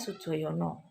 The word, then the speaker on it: Soedjojono: Nah, itu tulisan lama, nama lama ya begitu. Istilah apa? absennya ya, bacanya Sujoyono.